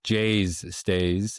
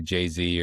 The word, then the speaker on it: JayzStays: It's uh it's Jay's stays. Uh so we do get that people do say Jay-Z or pronounce it all funny is Jay's is the combination of my two daughters names James and Hayes.